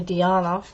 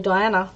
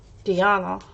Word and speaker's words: Diana: so but of course in English nobody is going to call me Deanna they're going to call me Diana because that's what it says so that but when mum pronounced it is actually the way that it's supposed to be pronounced but it's spelt Diana but if we were to write it in the way Croatians write it would be spelt differently and then it would be said dianna not diana not just